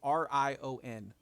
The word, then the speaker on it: Rion: It is Rion, which looks like lion and with an R, so Ryan.